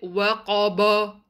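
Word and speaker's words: وَقَبَ: Waqaba. Make sure your ba is light. Don't read it waqaba. Ba has to be light.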